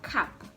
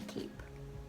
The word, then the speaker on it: cap: what is this thing this is a cap okay it's not a cape it's not a cape it's a cap tap is what tap